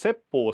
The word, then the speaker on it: Seppo: But the cook, whose name in Japanese is pronounced Seppo, said, I didn't hit the drum yet.